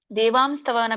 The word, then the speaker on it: ದೇವಾಂಸ್ತವ: ದೇವಾಂಸ್ತವ ಅರ್ಜುನವಾಚ ಪಶಾಮಿ ದೇವಾಂಸ್ತವ ದೇವಾಂಸ್ತವನ್ನ ಬಿಡಿಸಿದಾಗ ದೇವಾಂಸ್ತವ ಅಂತ ಆಗುತ್ತೆ ಕೂಡಿಸಿ ದೇವಸ್ತವ ಅಂತ ಆಗುತ್ತೆ ಕೂಡಿ ಹೇಳಿ ದೇವದೇಹೆ ಹ ಯಾಕೆ ಬಿಡಿಸಿ ಹೇಳ್ತೀನಿ ಅಂದ್ರೆ ಅಲ್ಲಿ ಎರಡು ಪದ ಕೂಡಿದೆ ಅನ್ನೋದು ಗೊತ್ತಾಗಲಿ ಅನ್ನೋಕೋಸ್ಕರ ಕೆಲವೊಮ್ಮೆ ನಾವು ಅದನ್ನ ಬಿಡಿಸಿ